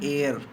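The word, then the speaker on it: heir: एयर, यहाँ पर H silent है, एयर, हेयर नहीं एयर।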